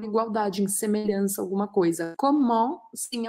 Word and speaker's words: comment: Comment, sim, é uma pergunta. E a pronúncia é comme, paro no M, ou comment, e faço um som anasalado.